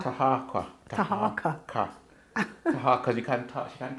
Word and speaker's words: Taharqa: Taharqa. Taharqa.